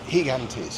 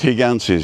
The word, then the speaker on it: Gigantes: They always pronounce it Higantes. Higantes. Yeah. I think the first G's soft. Yeah. And the second G's a G.